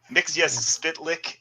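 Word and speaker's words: Mxyzptlk: friend's name not not his uh correct sorry mix yes spit lick there you go i gotta pronounce it like gilbert godfrey not mitchell mexia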